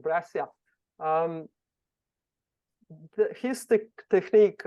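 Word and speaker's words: Breccia: course um who knows how to pronounce uh Alberto's last name bre Bia breia breia yes calling I can always count on you you know your stuff oh I love brasia braia okay let's learn braia um the his te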